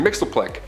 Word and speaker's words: Mxyzptlk: His real name doesn't even translate into Earth's languages, but we collectively pronounce it as Mr. Mxyzptlk.